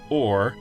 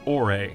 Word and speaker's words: Ore: By the way, we know some fans pronounce it Or, but the only audible reference for the region's pronunciation is a TV commercial commercial where they pronounce it Ore, so we're gonna follow their lead.